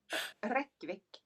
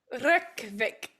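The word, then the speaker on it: Reykjavík: No, like roll your R's. Reykjavik. Reykjavik. If you want to sound like you know what you're doing when you're speaking a Nordic language, always just put the emphasis on the first syllable.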